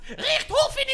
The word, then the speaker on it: Richthofen: Richthofen and Dr. Schuster continued It's actually pronounced Richthofen and Dr. Schuster!